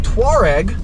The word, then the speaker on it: Touareg: The Volkswagen Touareg, which is technically how it's pronounced if you're not American, performs very well off-road, and that's because the ground clearance is just monumental.